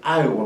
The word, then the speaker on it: Iowa: trabajó en la ciudad de Iowa, así se pronuncia, ¿no? Fue profesor ahí en la ciudad de Iowa muchos años y luego ya cuando, porque recuerden